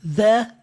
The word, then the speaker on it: the: É um som que não tem na língua portuguesa. The, this, that, thanks, those, these e por aí vai. Você vai colocar, você vai só encostar a língua no dente.